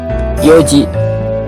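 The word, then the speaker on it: 四時: Nah, untuk yo ini ya, kan diambil dari kata yong ya kan, yon, yong, tapi dibacanya yong. Tapi kenapa di sini n-nya hilang? Nah, itu dari sananya ya. Memang dalam bahasa Jepang itu kadang berubah dan kita harus tinggal mengikuti aja ya.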